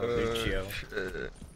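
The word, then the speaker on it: Lúcio: It's called a Lucio, dude. Like, that's how they pronounce it in Brazil, Lucio.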